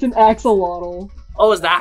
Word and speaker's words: axolotl: It's an axolotl. Oh, is that how you pronounce it?